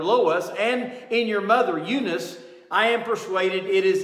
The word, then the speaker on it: Eunice: behind this great man his mother eunice or unice as some people say it should be pronounced she had the same